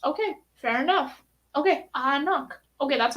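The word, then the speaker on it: anCnoc: oh i don't know ah knock isn't the gaelic pronunciation but it's on their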